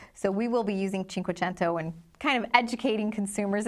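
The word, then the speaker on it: Cinquecento: just how you pronounce it it is the chin quento um it's just we pronounce it 500 in the US but I just thought from a branding standpoint would you want to use the name Chinko chento doesn't sound like you do we will we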